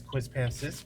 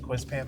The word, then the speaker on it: Quispamsis: when I got here everyone was like it is quiz Pam sis but no one everyone just calls it quiz Pam apparently or that's what I've